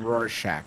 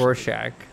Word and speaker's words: Rorschach: Oh, is I did want to mention a Russian fan of the show confirmed that Griffin's pronunciation of Roshak was accurate. It's such a joke. Rorschach, actually. Rorschach.